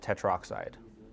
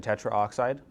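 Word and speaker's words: tetroxide: So, I would probably remove the A. We'd pronounce it troxide. Again, any chemist would understand what you meant if you said tetra oxide.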